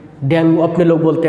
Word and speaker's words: डेंगू: है, डेंगू fever में, उच्चारण डेंगू ही होता है, तो डेंगू फीवर में